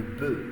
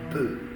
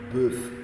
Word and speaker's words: bœuf: The F at the end is not pronounced. Take particular care. Le bœuf, un bœuf. No F, not bœuf, no.